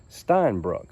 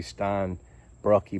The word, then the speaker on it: Steinbrucke: look it up and the pronunciation that I got from Google was Stein Brook at first I thought maybe Stein Brookie but we'll go with Stein Brook it sounds a little bit better sometimes I am sent